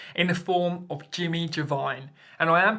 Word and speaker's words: Iovine: push the service in the form of Jimmy Giovine. And I am pronouncing it correctly. The Italian pronunciation for Giovine, which is spelt with an I, is Giovine.